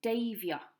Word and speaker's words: deifio: Next one is deifio, diving. Deifio. That one sounds quite similar to the English.